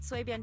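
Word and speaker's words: Suibian: Then I'll see you back at Swayben Temple. Don't stay out too long. Okay. In this case, the second I is silent, it sounds like. Huh? Sway Ben.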